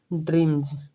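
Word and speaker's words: dreams: तो उनमें एस जुटे तो एस का उच्चारण ज करता जैसे देखिए पें काल्स डील ड्रीम्स ठीक ये एक इंपोर्टेंट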